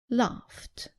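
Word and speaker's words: laughed: washed watch watched work worked stop stopped laugh loft right let's look at group two when ed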